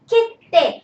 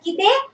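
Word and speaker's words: 切手: Okay, so this will be kitte. And how not you should pronounce this as? You should not pronounce it as kitte. What else? Kitte. Okay, do not say this as kite or kitsute. Okay, it is kitte.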